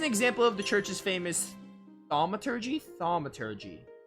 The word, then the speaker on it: thaumaturgy: This is an example of the church's famous thaumaturgy? Thaumaturgy. So like signaturgy with thauma instead of signa.